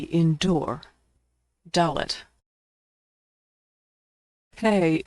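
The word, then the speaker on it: הא: Hey, is pronounced like the H in hello. Like H in English, it's silent at the end of words.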